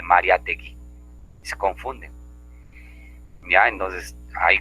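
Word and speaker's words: Mariátegui: Pero de nosotros, los mayores, digo Mariatigüe, ¿no? En vez de Mariategui, se confunden.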